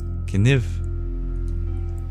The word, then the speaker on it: kniv: danua you share that knife in Danish is kif were pronounced similar to canu yeah some languages that